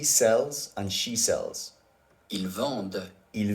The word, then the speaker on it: vendent: So always remember, even though the ENT ending is silent, the E in it will always affect the pronunciation of the letter that comes before it.